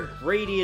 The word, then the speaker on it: Grady: I mean, to be fair, Grady is not exactly a positive name, considering it rhymes with shady and also sounds like greedy.